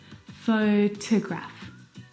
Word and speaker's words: photograph: The second syllable is unstressed and it is uh reduced down to the schwa sound. T photograph. slow to graph. It's very short. It's very lazy. It's not very strong at all.